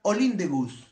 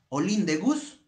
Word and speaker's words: Olympe de Gouges: de gol de borges así se escribe olympe de gouges se pronuncia all in the bus all in the bus una mujer no francesa